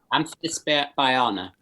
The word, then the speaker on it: Amphisbaena: Um, Amphisbaena. Amphisbaena. Okay, it's not so tough. Because for me there's like a AE, it's like an Amphisbaena, I want to say, but it's Amphisbaena.